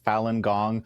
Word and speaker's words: Falun Gong: How is it pronounced? So I mean, that's actually pretty darn close. Falun Gong, also sometimes known as Falun Dafa.